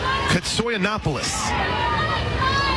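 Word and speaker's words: Koutsoyanopulos: ball one two katsoy Annapolis you want me to do the hair and carry yes please k-o-u-t-s-o-y-a-n-o-p-u-l-o-s sounds exactly like it's spelled ish right soy Annapolis catcher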